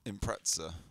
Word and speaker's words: Impreza: stuff Impreza well T so it's impressive is it yeah spell it Impreza there's no tea in it Impreza Impreza you don't